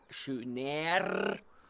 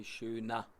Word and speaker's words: schöner: Please remember, my pronunciation, German, they do not pronounce schöner, especially because the rolling R is not the specialty of the German. So you say schöner.